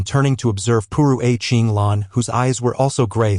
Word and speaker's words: Qing Lan: In Chinese, it should be pronounced Chinglan.